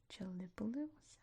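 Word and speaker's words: Gelibolu: Then up here's the actual city of Gipoly, which is not how you say it in Turkish. Let's take a look. Chelipus is how you say it in Turkish.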